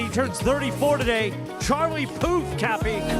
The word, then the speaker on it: Puth: Charlie Poof. Cappy. Charlie who? Oh, come on. His last name. Charlie Puth. Spell that for me.